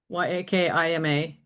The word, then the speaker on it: Yakima: Yakima.